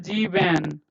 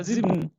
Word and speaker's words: sieben: So when you hear Germans pronouncing, they will not say sieben. Okay, so you will hear only half of it. So sieben, okay, sieben, okay.